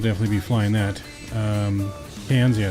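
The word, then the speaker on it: Cairns: be flying that um cans yeah know was pronounced cans I don't know why it's pronounced cans with that spelling but it is so um as you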